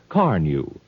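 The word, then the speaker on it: Carnu: It's spelled C-A-R-N-U. Car New.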